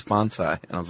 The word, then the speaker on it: bonsai: Yes, which you I don't know if I'm saying it wrong, but right before we press record you said, "It's not bonsai, it's bonzai."